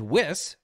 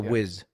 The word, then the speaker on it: Whis: him in his visions beerus and his attendant whis am I saying that correctly yeah or is a wiz with whis that's the way I would yeah